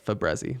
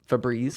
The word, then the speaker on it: Febreze: all but uh well i always say a fabrezi but febreze febreze yeah is it spelled